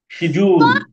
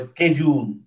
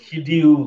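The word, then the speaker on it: schedule: কুল school সকুই সিজুল শোন এটা দুইটা দুইটা উচ্চারণ আছে একটা সিজুল অথবা স্কেজুল সিজুল স্কেজুল ঠিক আছে নট সিডিউল আমরা বলি সিডিউল ভুল বলি স্কেজুল সিজুল খিজুর শিশু খিজু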